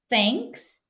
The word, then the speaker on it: thanks: So we have thanks, it's unvoiced, right? So if you touch your if you touch it here, your neck, so you're not going to feel any sound when you say thanks.